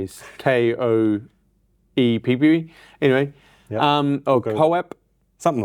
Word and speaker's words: Koepp: I don't know, I got to look into how to pronounce his name. Kopp, I'm going to say is Koepp. Anyway, Koepp.